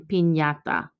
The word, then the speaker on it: piñata: The pronunciation of Nye is similar to the NY in the English word canyon, and we see it in the words mañana and piñata.